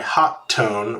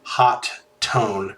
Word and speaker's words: Hotone: The name is spelled Hotone, which looks like either Hotone or Hot One, but I think it's actually supposed to be pronounced Hot Tone, and the T is shared, but I'm not really sure.